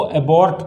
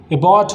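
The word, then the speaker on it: abort: बहुत लोग इसको अबॉर्ट पढ़ते हैं, राइट, जबकि इसका सही उच्चारण क्या होता है? अबॉर्ट होता है।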